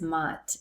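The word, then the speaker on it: Maat: Okay, so the second goddess is a little more known, and her name is MOTT, M-A-A-T. She's an Egyptian goddess, and a very, very revered goddess. And some people say that MOTT was like these laws.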